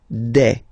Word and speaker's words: des: Okay, and then the plural form, des. Alright, here S, you pronounce it like e.